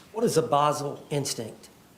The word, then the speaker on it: basal: He says it like a buzzle instinct that rhymes with puzzle. She's like, "Yeah, I don't know what that is." [clears throat and cough] What is a Basel instinct?